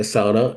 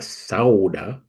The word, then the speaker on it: sauna: used to take a sauna and of course the fins don't call it a sauna it's a SAA okay you're in Minnesota